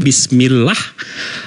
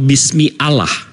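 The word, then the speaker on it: بسم الله: Kita kita bacanya bismillah atau bismi Allah? Bismillah. Bismillah. Bismillah ya. Bukan bismi Allah ya.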